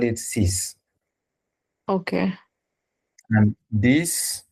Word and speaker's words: dix: And this, instead of dix, we are going to call it as this These. because Okay. it, yes, X is at the end and it sounds as S.